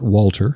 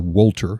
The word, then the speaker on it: Wolter: but the host is Scott Wolter, or Wolter, I believe he pronounces it.